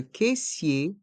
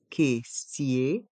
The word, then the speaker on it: caissier: caisse la caisse le caissier la caissière le caissier la C sière les voyelles a et i dans ce mot se prononce e Kier dans le mot